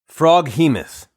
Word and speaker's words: Froghemoth: Froghemoth. Froghemoth. Froghemoth. Behemoth. Frog. Froghemoth.